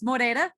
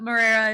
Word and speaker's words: Moreira: It's Moreira, but Moreira is totally fine.